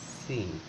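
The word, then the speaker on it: سين: ইজা এরপর এটা হচ্ছে সিন অর্থাৎ তিনটা এরকম মাথা থাকবে কাটা মাথা সিনযে এই জায়গাটা খেয়াল রাখতে হবে সিন এটা সিন এটা একেবারে চিকন যত চিকন করে উচ্চারণ করা যায় তত চিকন করে সিন তারপর হচ্ছেশিন এটা সিনের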